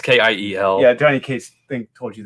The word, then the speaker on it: Kiel: It's not Kevin. It's Kyle. And when you spell it Kyle, it's not Kyle. It's not. It's stupid. Yeah, it's Kiel.